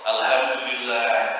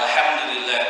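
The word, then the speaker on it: الحمد لله: Alhamdulillah, alhamdulillah pakai ha, itu artinya beda, Pak. Alhamdulillah artinya segala kebinasaan bagi Allah. Fatal sekali. Harusnya pakai ha, alhamdulillah, segala puji bagi Allah.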